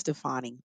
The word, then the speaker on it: Stefani: about your girl is I think it's pronounced Stefani but Stefania sabanya now Stefani